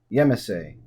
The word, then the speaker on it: Yemassee: Yemassee. That's right, I looked up how to pronounce it finally.